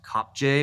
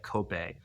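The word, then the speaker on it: Kopje: Cy called elsis uh it looks like it's pronounced cop J but it's like cope um Els COPE in Mario National Park we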